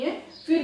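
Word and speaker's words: half: हाफ, देखिए एल के पहले ए आया, हाफ, एल साइलेंट है।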